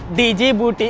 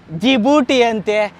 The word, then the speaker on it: Djibouti: देशा नता ई दे डीजी बूटी अ आ ई देश डीजी बूटी अला जी बूटी अ D silent D silent Karma कर नाबू